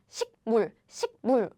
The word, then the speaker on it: 식물: Air blocking sounds and nasal sound don't go well together, don't go very well because it's difficult. So this becomes the nasal version, which is NG, like 식물.